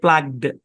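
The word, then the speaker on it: plugged: ধরে উচ্চারণ করতে হবে উচ্চারণ হচ্ছে প্লাগড কি উচ্চারণ প্লাগড প্লাগড এরকম আর কি শেষে ডি আর কি ঠিক আছে বুঝতে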